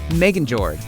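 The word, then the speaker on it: Megingjörð: in civil war as for Thor's belt it's pronounced Megan George and is better known as the belt of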